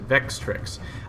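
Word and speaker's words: Vextrix: warlord who is of house i pronounce it vex tricks basically it's a shooty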